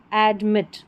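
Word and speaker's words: admit: ऐड ऐड और मिट। ये दो स्लेबल वाली स्पेलिंग है। एडमिट। मिट जोर देकर बोला जा रहा है।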